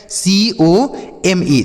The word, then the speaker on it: come: सी से पढ़ेंगे क। अब ओ का उच्चारण होता है ओ की मात्रा, लेकिन यहाँ पे ओ की मात्रा हम नहीं करेंगे। तब क्या करेंगे? यहाँ पे ओ का उच्चारण जो होगा वह आ के रूप में होगा। आ मतलब इसे लिखा नहीं जाएगा, केवल पढ़ा जाएगा। यम से पढ़ेंगे माँ, और लास्ट में ई रहता तो हम उसे नहीं पढ़ेंगे।